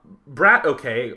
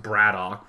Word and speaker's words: Brat_OK: on so QX or um excuse me uh Brad okay or I believe his name is actually pronounced bradoock but I guarantee I'm going screw this up